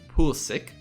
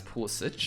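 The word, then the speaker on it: Pulisic: of america we have christian pulsation or i guess how they like to pronounce it pool's sick i'm just used to pronouncing guys with itches at the end as pool sich good at dorman go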